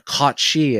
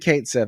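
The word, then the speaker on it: Cait Sith: So, for example, on the Kate Sith episode, or Kachi, as some people want you to pronounce him, the Square Enix said Kate Sith. I'm going to keep saying Kate Sith.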